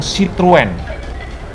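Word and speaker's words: Citroën: itu saya baru seneng sitrun pembacanya sitrun sore sitrun guys bukan siluet Giant screen Dian atau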